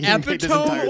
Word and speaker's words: epitome: Will's the epitome of our schizo. He's just like, he epitome? What do you mean epitome? Oh god. Epitome. It's epitome, not epitome. Epitome's a word. Epitome is how you pronounce it.